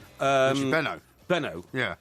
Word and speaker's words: Benaud: I have to say, although I never met Richie Bernard... Richie Benner. Benno. Yeah. Richie Bernard, it is, actually. Is it? Why does everyone call him Richie Benner, then?